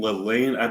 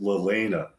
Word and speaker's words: Leilani: I've been saying Leilani for years now. And I just recently noticed it's actually pronounced Lelena.